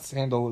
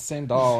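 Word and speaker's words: Sandahl: It's not Sandal, it's Sandal, I think.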